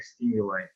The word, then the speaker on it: stimuli: Yes, that's the Greek origin of the word. So that is why we pronounce like stimuli.